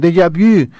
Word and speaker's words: déjà vu: Un déjà vu, como se pronuncia en francés, un déjà vu.